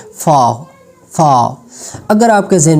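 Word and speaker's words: faux: मुझे जो सिर्फ एक वर्ड मिला जिसमें X साइलेंट है, फाव, फाव.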